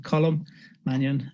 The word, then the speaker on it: Colm Mannion: It's a very typical Irish name, so maybe a little difficult to pronounce, but Colm Mannion.